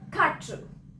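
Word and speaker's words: quatre: कैसे बोलेंगे उसको? खाट्रू. खाट्रू. खाट्रू.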